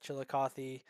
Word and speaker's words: Chillicothe: it's so nice hearing someone not from Ohio pronouncing Chillicothe correctly like Chillicothe most people's oh yeah well you know I'm